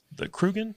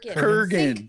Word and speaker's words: Kurgan: for the character, that the Krugen, is that how you pronounce it? Kurgan.